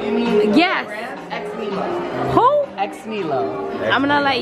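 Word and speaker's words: Ex Nihilo: It's a French brand, and we say it with an American accent, so I could even be saying it wrong, but everyone here says X-Milo, so that's like what we widely accept.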